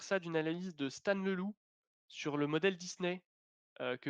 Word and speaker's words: Leloup: Ça s'écrit Stan Leloup, comme un loup, mais tout collé, Leloup.